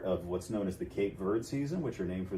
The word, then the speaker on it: Verde: we call it kate i call it cape verde i'm not going to say verdi and it isn't verde